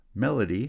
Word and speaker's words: melody: Melody has stress on the first syllable.